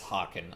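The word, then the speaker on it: hearken: allies without delay awesome pronounced harken archaic spelling yeah that was the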